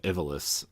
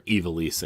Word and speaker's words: Ivalice: the same world of Ivalice. So, or Ivalice, I think is how it's pronounced. I always said Ivalice, but I think it's called Ivalice. I mean, you know, when